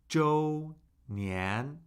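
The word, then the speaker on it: 周年: Joe Nian Joe anniversary. Joe nan Can you repeat after me? That's a first tone. Second tone Joe. Joe. So Joe first tone, right?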